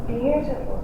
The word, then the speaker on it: beautiful: See Which syllable in each of these words is the strongest? Beautiful. Beautiful. The first syllable is the strongest syllable.